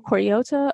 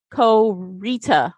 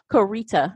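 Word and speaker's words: Koryta: wrote fourteen books under Michael Cory ohta or Michael core Co Rita I'm sorry he actually has a phonetic pronunciation of his name Co Rita there we go now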